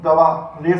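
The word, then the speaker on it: گوار: अब हम इसकी हिज्जे करते हैं, गाफ वाव अलिफ गवा, रे साकिन। तो ये पढ़ा गया गवार।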